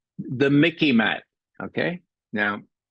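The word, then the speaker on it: MICIMATT: It's the Mickey Mat. Okay. Now, it sort of rhymes with Mickey Mouse, so you might remember that.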